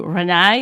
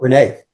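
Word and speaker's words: Renais: JuneShine and Cann to Renai. Am I saying that correctly? Renai? Renee, Renee. Okay.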